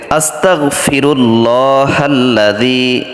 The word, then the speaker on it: আস্তাগফিরুল্লাহ: ভাবে তেলাওয়াত করা শিখবো পড়া শিখবো আপনারা পড়বেন আস্তাগফিরুল্লাহি আস্তাগফিরুল্লাহি কয়েকবার পড়বেন আস্তাগফিরুল্লাহ আপনি এখানে খেয়াল করবেন আস্তাগফিরুল্লাহ এটা আপনি কখনোই